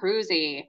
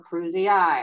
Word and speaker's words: cruzi: All right, Trypanosoma cruzi, or cruzii, however you like to pronounce it.